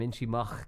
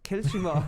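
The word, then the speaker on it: Kiltimagh: I don't really know my Connacht pronunciation, but if a fella from Inchimach can't pronounce it, I don't know. Kilchimach.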